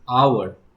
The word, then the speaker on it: hour: দেখো আওয়ার, এই ওয়ার্ডটাকে ভালো করে দেখো, আওয়ার কথাটা কিন্তু হাওয়ার নয়, আওয়ার, আওয়ার। তাহলে দেখো এখানে, বা এটাকে তুমি করতে পারো আওয়ার, অর্থাৎ ইংলিশে আরেকটা ওয়ার্ড আওয়ার, এর মতো উচ্চারণটা। এখানে দেখো এখানে কিন্তু এইচটা আমাদের সাইলেন্ট আছে, এইচটা আমাদের সাইলেন্ট। আর এই যে আওয়ার, ও